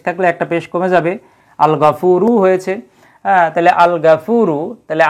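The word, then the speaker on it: الغفور: হুরুফুল কামারিয়াত চন্দ্রাক্ষর তাইলে এই গইন হচ্ছে চন্দ্রাক্ষর এজন্য তার পূর্বে আলিফ লাম আসলে উচ্চারণ হচ্ছে আর র এটা হচ্ছে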